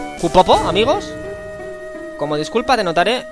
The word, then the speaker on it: kupo: se me atraganta no el pronunciarlo es cupo amigos kupo amigos como Disculpa te